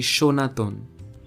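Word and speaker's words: সনাতন: over take for example the word sanatana in hindi now in the word the first sir is used and when you write the word in bengali you also use the word sir but the pronunciation of the word happens to be shonaton linguists suggest that the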